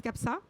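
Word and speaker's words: CAP SAAA: fondateur de cap ça on prononce capsa cap sport aventure amitié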